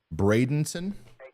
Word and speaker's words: Bradenton: as it moves forward see uh some more pronunciations Bradenton okay I think I've been saying Brandon sorry brenon Sebring and kissm kiss CMI um